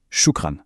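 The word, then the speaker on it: شكرا: Ce qui se prononce ana ber shukran. Ça veut dire je vais bien merci. Allez on le redit une fois shukran.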